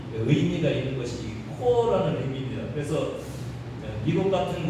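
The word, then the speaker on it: corps: 코어 이 뒤에 P가 들어가 있는데 이건 묵음입니다. 발음하시면 안 됩니다. 어느 책에 보니까 프랑스 말로 콥스는 시체라는 단어예요. 여러분 콥스라고 하면 굉장히 불쾌하죠.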